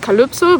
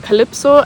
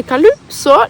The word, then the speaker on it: Calypso: people pronounce my name, because in German you pronounce the Y of Calypso, you pronounce it like an Ü. So it's pronounced Calypso, but still some people pronounce it more like an E, so sometimes it turns out like Calypso, and I don't like it that much. And in Denmark, people really say Calypso, they really emphasize the U, and I